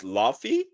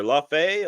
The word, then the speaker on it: Laufey: Her name is Laufey, I guess, or Laufey, or I didn't look up how to pronounce it.